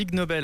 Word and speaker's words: Ig Nobel: Ig c'est comme ignoble, et les Nobel c'est une des justement, voilà, c'est prix Nobel, c'est une des plus grosses certifications scientifiques qu'on peut avoir.